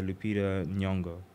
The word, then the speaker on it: Lupita Nyong'o: Like Lupita, is that how you pronounce her name? Yeah, Lupita Nyong'o.